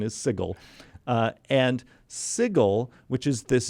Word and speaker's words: Sigil: compelled the creator of yes but the official pronunciation is sigil and sigil which is this doughnut-shaped city so